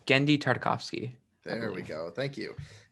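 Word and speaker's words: Genndy Tartakovsky: take that for me real quick uh it's gendy tartakovsky there we go thank you and then we're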